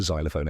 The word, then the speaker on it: xylophone: about spelling it's spelled x y l o p h o n e even though it starts with X it sounds like Z just like xylophone and